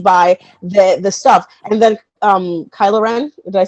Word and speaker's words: Kylo Ren: He's like, oh my gosh, sides, and it's like, well, maybe not even Anakin Skywalker, because what was Rilo Ken? Oh yeah. That's even more. Kylo Ren.